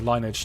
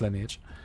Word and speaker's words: Lineage: it's it's more like um lineage or linage depending on how you want to pronounce that but it's lineage um is the combat